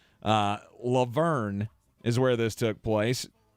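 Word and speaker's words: La Verne: This was from San Bernardino County in the town of Laverne, or Laverne. I guess I'm putting the wrong emphasis on the wrong syllable. Laverne is where this took place.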